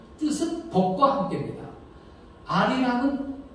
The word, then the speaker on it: 알이랑: 아리랑은 니을이 다음 문절에 첫소리로 발음되니까 아리랑 이렇게 발음을 하죠.